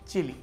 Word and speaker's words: Chile: की सूरत में है चिली। इसका स्पेनिश उच्चारण है चिले, लेकिन हिंदी में चिली ही कहते हैं।